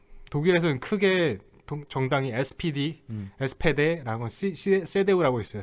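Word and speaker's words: CDU: 독일에서는 크게 정당이 SPD, SPD라고 세데우라고 있어요. 세데우는 SDU. 그러니까 독일식 발음은 세데우. 그래서 기독교 민족연합.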